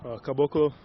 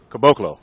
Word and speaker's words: Caboclo: Can you pronounce it for me? Caboclo. Caboclo. Yeah.